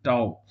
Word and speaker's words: Tao: भी कहते वर्सत है यह है टाव टी ए ओ ताओ अब ताओ धर्म जो